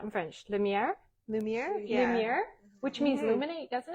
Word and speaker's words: lumière: Lumière, which means Mhm.